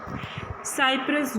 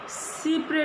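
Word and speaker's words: cy-près: साइप्रस doctrine, अगर हम इसे प्रोनाउंस किस तरह से करेंगे, सीप्रे डॉक्ट्राइन।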